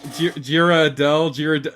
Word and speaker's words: Ghirardelli: How is this pronounced? Ghirardelli. Yeah, I wasn't smart enough to figure it out.